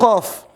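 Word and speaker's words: ق: Ini semua dibaca 6 harokat. Berapa? 6 harokat, 6 ketukan. Makanya dibaca panjang.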